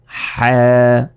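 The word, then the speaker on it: حاء: এরপর হ্যাঁ হ্যাঁ, অনেকে আমরা এটাকে বলি হা, হা বলি, এই হা এটা বলা যাবে না, বলতে হবে হ্যাঁ, মানে গলার মাঝখান থেকে এটা উচ্চারণ হবে। হলকের মধ্যভাগ হতে হা অক্ষরটি উচ্চারিত হয়।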